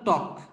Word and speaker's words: talk: উচ্চারণটা টক। ওকে, এল এর উচ্চারণটা হবে না।